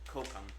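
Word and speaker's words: kokum: how cokum that's right we had to look it up because I want to say it right cokum cocum butter so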